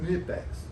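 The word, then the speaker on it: Knipex: Nipex. Well, yeah, I caught a few comments on that. The K in Nipex is silent.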